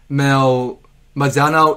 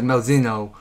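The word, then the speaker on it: Malzeno: I was pronouncing Malzano. It was Malzino.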